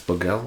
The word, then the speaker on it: Bogale: Is that how you pronounce it? Yeah, it's Boguel.